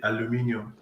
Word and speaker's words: aluminium: No, Aluminum. we pronounce it aluminium.